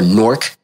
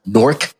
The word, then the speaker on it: Newark: great city of newark or nork as some people like to pronounce nork n-o-r-k not any w-a-r-k but that's cool and